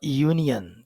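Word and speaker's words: union: न रप coin a यूनियन तो वहां पर लिखा तो यू फॉर अंब्रेला है वो इंग्लिश में वावल है स्वर है लेकिन उसकी साउंड वाई की है तो इंग्लिश लैंग्वेज साउंड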